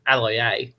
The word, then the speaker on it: Aloiai: Josh Aloiai with, I've butchered his name, Aloiai, there we go, 113 meters.